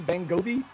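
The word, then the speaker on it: Bongiovi: His name is Bon Jovi, and his cousin's name's Tony Bangovi.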